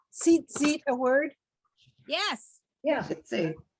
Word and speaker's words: tzitzit: So sometimes you'll hear people saying something about tzitzis. That's really what it's tzitzit, how we pronounce it.